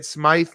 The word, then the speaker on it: Smyth: you do don't get it twisted it's SMI not Smith folks SM SM YT tell us about your